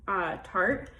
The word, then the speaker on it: Tarte: This is from Tarte, which, that's how you say it.